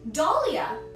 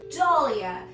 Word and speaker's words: Dahlia: And we have up next Dahlia. Dahlia. You could think of Dolly like the toy or Dolly Parton because we're working 9 to 5 here.